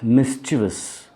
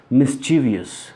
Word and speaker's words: mischievous: as well that is mischievous people pronounce it mischievous there is no I after V in that word now moving on to